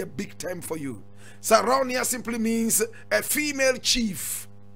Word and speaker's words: Sarraounia: Now, today we are talking about Sarraounia, Mangou. Sarraounia, Mangou. Now, those of you who speak Hausa, Sarraounia will not be a big term for you. Sarraounia simply means a female chief.